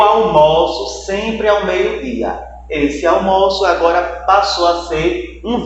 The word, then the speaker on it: almoço: Na hora que eu vou pronunciar, eu tenho um som fechado em almoço, que é justamente substantivo, o alimento, e eu